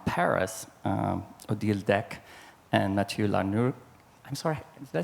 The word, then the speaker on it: Lehanneur: Odile Decq and Mathieu Lehanneur. I'm sorry, did I say that all right? Lehanneur? It's so hard for me. Lehanneur. Lehanneur. In French, we said Lehanneur.